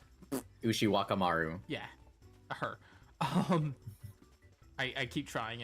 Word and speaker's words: Ushiwakamaru: MASH, and I can never remember how to pronounce Ushiwakamaru? Yeah, Ushimakara. Ushiwakamaru.